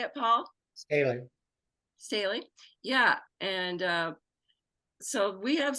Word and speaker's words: Staley: Staley.